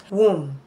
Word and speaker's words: womb: Womb. Womb. The letter B is silent.